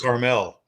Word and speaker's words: Carmel: caramel so correct yeah like mount carmel you wouldn't say mount caramel and the town in california is caramel yeah or what's pronounced carmel in california oh okay